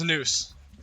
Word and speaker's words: Noose: It's Noose. It's Noose, right? Have I been saying it right? All right, good. I know you. I just always say your name one of two ways. It's either Noise or Noose.